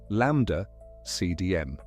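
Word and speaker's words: ΛCDM: The standard model of cosmology has a name, LCDM, pronounced lambda CDM.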